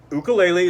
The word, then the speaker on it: ukulele: wrong with your voice ukulele is the way you actually pronounce the instrument from the islands i know that because